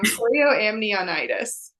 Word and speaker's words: chorioamnionitis: It's chorioamnionitis.